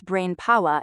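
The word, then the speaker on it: Brainpowa: Yeah, that ain't no mispronunciation, it's BrainPower ending with an A instead of ER.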